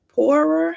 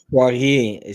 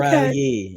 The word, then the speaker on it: Poirier: Poirier, she's a French woman. Oh, there we go. Yep, she's a French Canadian woman. Say it again. Like Portier, but Poirier, Poirier. Okay. Poirier.